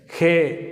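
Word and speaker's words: ה: இந்த எழுத்தை ஹே அப்படின்னு உச்சரிக்கிறோம்.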